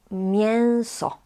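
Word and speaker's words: mięso: But people usually say meat is meo. This e with a tail is pronounced as like nasal sound.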